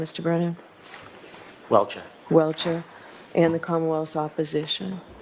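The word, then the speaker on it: Welcher: How do you pronounce his name, Mr. Brennan? Welchure.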